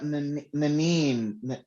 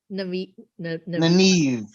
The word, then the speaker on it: Nynaeve: And then another thing, because Nanine, is that how you say it? Nynaeve. Yeah. Nynaeve.